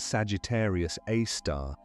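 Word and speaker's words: Sagittarius A*: Its name is Sagittarius A star written as Sagittarius A with an asterisk pronounced Sagittarius Aar.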